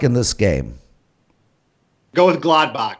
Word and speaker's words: Gladbach: So, Nick, I would appreciate, given that you're on the show with 3 other incredibly astute soccer experts, that you pronounce it correctly. Gladbach.